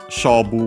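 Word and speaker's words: 勝負: Shobu, we have seen the Chinese compound, accent on the first mora.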